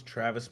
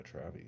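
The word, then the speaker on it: Travie: remember Travy McCoy I thought his name was Travis McCoy and people always like mispronounce his name but why do they call him why is it Travy but he actually goes by Travy that's weird everyone's copycats they all copied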